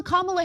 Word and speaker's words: Kamala: Kamala Harris.